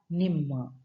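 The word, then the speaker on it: ನಿಮ್ಮ: Now, my in Kannada is called as nanna, nanna, and your it's called as ninna or nimma.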